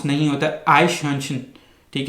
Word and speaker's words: Eichhörnchen: जा सकता है, लेकिन अगर आप इसकी आप स्पेलिंग देखें, IEICHHO उमलाउट RNCHEN, आइशहंशन।